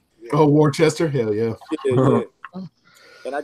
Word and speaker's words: Worcester: How do you pronounce that shit? I would say Worcester. Oh, Worcester, hell yeah.